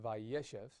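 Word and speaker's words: וַיֵּשֶׁב: what will happen is we'll have a retraction of stress. And once we retract the stress, the last syllable being closed and accented Hebrew requires a short vowel. And so we'll get a segol there, and we'll say vayeshev.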